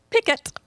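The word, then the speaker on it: piquet: if you guess that P often pronounced pick it pick it by the jacobians is another card game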